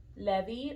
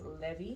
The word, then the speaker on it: Levi: I think you would write it the same, but it would be either Levi or Levi. And I like it better when how it sounds in Spanish as Levi.